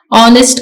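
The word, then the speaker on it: honest: का T silent है ऑनेस्ट का एच साइलेंट है टॉक का एल साइलेंट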